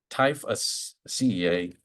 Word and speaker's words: Typhaceae: And there's probably there's a good story to that too, but it's in the I gotta pronounce this right. It's the Typhaceae. No, let me get my notes here. Typhaceae.